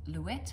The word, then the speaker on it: Louet: This is the Versailles Shell by Connie Chang Chinchio, and I used Louette. I think it's pronounced Louette, even though I would have said Louet, but I've heard people say Louette.